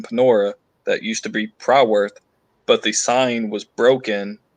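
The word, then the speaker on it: Prywth: one word um but the reason why it's pronounced proud worth um i had mentioned to you how all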